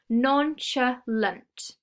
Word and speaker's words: nonchalant: a describing word and it has three syllables noncha lent and when you give